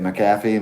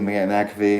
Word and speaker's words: McAfee: yeah mcphee knob how do you say it mcafee mcafee it's spelled mac yeah mcafee mcafee because it's mac